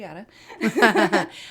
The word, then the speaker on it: Yata: so y a but pronounced like yada y yada um make it easier